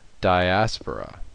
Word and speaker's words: Diaspora: a lot of changes, especially in things like pronunciation. I've already heard Diaspora, Diaspora, but from what I've been told, it's Diaspora.